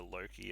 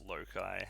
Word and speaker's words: Loki: to tier as tyre they'll refer to loki as lokai stuff like that um